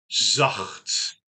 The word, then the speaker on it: zacht: 好，下一个。Zacht, zacht, zacht.